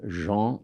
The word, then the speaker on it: Jean: is a man named Jean pronounce it like in French Jean g a n